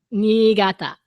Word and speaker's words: Niigata: Niigata.